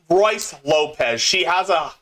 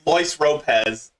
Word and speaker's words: Royce Lopez: Luis Lopez, or actually no, Royce Lopez. She keeps pronouncing it Luis Lopez, and it became a joke.